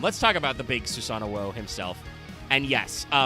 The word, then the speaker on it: Susanoo: trying to do because it's easier to just like add an extra syllable there for the English speakers and trying to go no no no no no it's susano o you you say the twice because the the way the OCG is written it's dash capital O but it's also written to be a long O because Susano O is